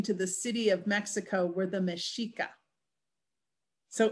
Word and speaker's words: Mexico: to the city of mexico were the meshica so early on it's meshiko and then of course later as the pronunciation changes it changes to mexico okay so then they